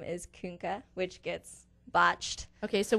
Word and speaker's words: Koenke: my last name is Kunke, which gets botched. Okay, so we'll spell it for our fans here.